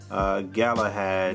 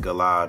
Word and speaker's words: Galahad: It's supposed to be Harry Galahad Hart, and I think I said Galad or something.